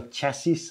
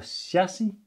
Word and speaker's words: chassis: I gotta say that already now I'm pretty optimistic about the it's not called a chassis, I know, it's called a shassi.